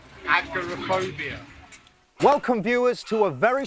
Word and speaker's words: agoraphobia: - Agrophib, how do you say it? - Agoraphobia.